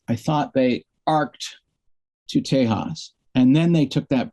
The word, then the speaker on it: Tejas: post they took that break you know after tejas that's how you pronounce it um and came back with the